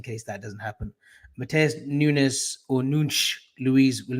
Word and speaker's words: Nunes: so like it's pronounced like NOONCH, NCH, like yeah, Nunes.